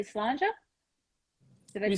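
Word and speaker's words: Slàinte: You guys say slanja? Did I We say pronounce it right? slange.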